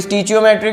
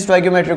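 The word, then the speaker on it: stoichiometric: स्टोइकियोमेट्रिक कोएफिशिएंट, स्टोइकियोमेट्रिक, कोई स्टीचियोमेट्रिक भी बोलते हैं बट the correct pronunciation is स्टोइकियोमेट्रिक कोफिशिएंट।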